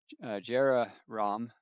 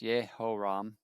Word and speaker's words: Jehoram: Jehoram in Hebrew is pronounced Yehoram, the son of Ahab.